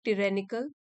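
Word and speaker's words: tyrannical: इसके synonym similar meaning हो गए, ऑटोक्रेटिक, टिरेनिकल, इसका प्रोनाउंसिएशन है टिरेनिकल, अथॉरिटेरियन।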